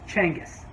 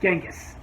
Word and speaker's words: Genghis: really mongolian and descendant you would know it's pronounced changus not genghis shiwan tells lamont that he was also a